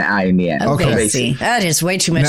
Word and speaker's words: Oveysi: Just think of the word obey, but replace the B with V. So Oveysi, and add an S and an I in the end. Okay. Oveysi.